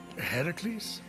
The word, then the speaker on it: Heracles: you doing there that thing with your voice heracles yeah that that is how it's supposed to be pronounced but it's your funeral except i can't